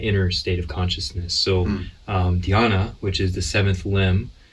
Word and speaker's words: Dhyan: So I want to start off because I noticed I said your name, Dhyan, and it's not Dion like Deion Sanders. Thank you. It's Dhyan. It's Dhyan. Yeah. Single syllable, yeah.